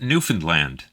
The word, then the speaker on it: Newfoundland: We pronounce it Newfoundland.